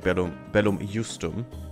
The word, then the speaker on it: Bellum Justum: Just in the beginning, actually Bellum Justum is the right one. The German pronunciation, which is the only right one.